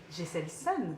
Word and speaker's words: Geselson: Jesselson, donc est-ce que je le prononce bien?